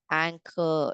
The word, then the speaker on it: anchor: A N C over here ch is making the C sound. Anchor. It's not anure or it is not anure. It's anchor.